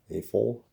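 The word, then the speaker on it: AFOL: into a word as an acronym a full adult fan of lego but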